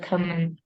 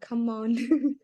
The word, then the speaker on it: common: Is a common. It's common. Bill nãy Bill đọc là gì Yes. không? Bill có biết ban nãy Bill đọc là gì không? Yes, không. Nãy Bill đọc là come on.